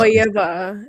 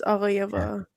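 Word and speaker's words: Aghayeva: I'm going to Aga Hayayeva. It's Aga Hayayeva.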